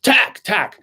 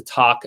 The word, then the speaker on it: Tak: this attacker you know king said tech you know tak tak as he was reading it so i always go with his pronunciation as opposed to talk as i've heard other